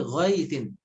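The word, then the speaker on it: غَيْثٍ: Kemudian ghaitsin jangan dibaca ghaitsin, ghaitsin. Tapi ghaitsin. Harf linnya dibaca dengan sempurna.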